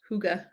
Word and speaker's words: hygge: pronounced like that hookah hygge it's like hookah you could you do